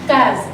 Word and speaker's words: case: Vous allez l'apprendre au CP entre deux voyelles, le A et le E. Le se prononce Z.